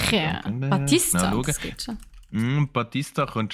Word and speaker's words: Bautista: Im Moment favorisiert ist der Dave Bautista. Okay. Wenn ich es richtig ausgesprochen habe. Oder Bautista. Ja, Bautista, das geht schon.